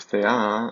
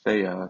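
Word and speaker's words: θεά: Then we have thea. This is the word for goddess, not thea.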